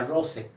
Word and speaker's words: rosae: declinación es rosa Rose su plural es Rose ae rosae se pronuncia Rose y estrella es Estela